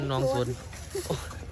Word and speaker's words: หนองโสน: หนองโน ตะโก ตำบล หนองโสน หนองโสน อ่าน ว่า สน กู อ่าน หนอง สน เมื่อย เด เมื่อย นำ